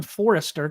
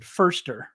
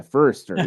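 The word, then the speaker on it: Foerster: said fer I always want to call him Forester because that's what it looks like and I know somebody with the last name Forester but he does pronounce it firster right yeah firster yeah yeah you were the first one to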